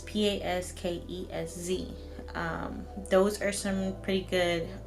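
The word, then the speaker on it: Paskesz: And then there's also the Pasquez. I believe that's how you say it. But it's Paskez.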